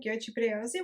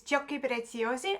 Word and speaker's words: Giochi: But I've also found like the classical Italian goi ones. Okay, so the correct pronunciation of this brand is Joyio or as Google puts it.